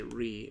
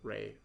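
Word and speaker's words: Rei: say their names correctly, like Ray, or you know, I used to say Ree, and I really doubt that that's the way, you know, his name is supposed to be pronounced. It definitely does, you know, seem more like Ray. It seems like a better. Or like it makes more sense just based off of the spelling, but you know, kid stuff, right?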